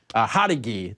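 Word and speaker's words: Jauregui: Hadagi is how we pronounce it, actually.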